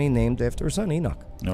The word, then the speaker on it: Enoch: his son's name rhymes with Menoch. So it'd be Enoch.